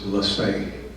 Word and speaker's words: Lassay: To my knowledge, the pronunciation of this name is Lassay, almost a French-sounding name.